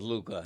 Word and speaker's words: Luka: You just love that hookah rhymes with Luka.